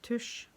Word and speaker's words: tusj: but a thinner, and as we in Norwegian call tush, not tushy like your bum, but TUSJ. So that is how it's spelled, and that's what we call every type of marker in this country.